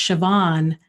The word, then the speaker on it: Siobhan: a person here from Ireland whose name is pronounced Siobhan but it's spelled like sue Bowen so it's